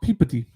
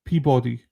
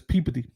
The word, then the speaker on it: Peabody: It's pronounced peodyy. Yeah, I would say pee. Peabody, but it's peeody.